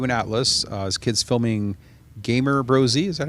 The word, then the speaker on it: Gamer Bros: And I saw this mock-up video of you and Atlas as kids filming Gamer Brosy.